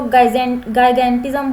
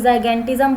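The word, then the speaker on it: gigantism: कोई इसको गाइगेंटिज्म बोलता है, कोई जाइगेंटिज्म बोलता है। ठीक है, that's up टू यू on your pronunciation.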